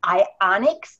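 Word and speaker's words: Ionix: health goals this gem this is referred to I onyx that's how you pronounce it I onyx supreme and once you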